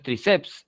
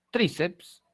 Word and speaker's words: tríceps: el caso de tríceps no no es triceps es tríceps la mayor fuerza de voz está en la penúltima sílaba es una parócitona y